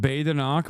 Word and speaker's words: Badenoch: It's pronounced Badenoch, but I don't care.